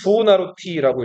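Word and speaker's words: Buonarroti: 미켈란젤로 플레임은 부호나로티라고 읽어요.이 미켈란젤로 아버지가 변호사, 공직인이었고 굉장히 유력한 집안의 자식이었는데 아버지 기대와 달리 공부를 안 하고 뭐에 등했을까요?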